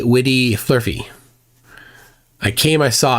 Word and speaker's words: Vidi: I will pronounce it as my Latin teacher instructed me in high school. Weni Witty Flurfy.